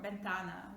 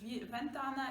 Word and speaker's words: ventana: you will notice that they pronounce v just like something in between i would say between v and b or bentana window again it's not a ventana it's not bentan is something in the middle all right keep practicing